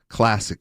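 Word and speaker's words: CLSC: Yeah, it's it's supporting the Dena Dena relief drive and uh you can find it at uh Pasadena Classic and that's C LSC pronounced classic.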